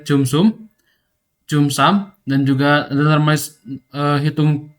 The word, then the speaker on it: cumsum: Untuk penjelasan fungsi tiap baris inti mungkin beberapa saja ya seperti hitung histogramnya menggunakan his ini sama dengan jumsu bacanya itu eh cumsum cums dan juga eh hitung CDF.